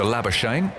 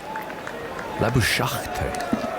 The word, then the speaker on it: Labuschagne: So he's going to bowl to Labuschagne.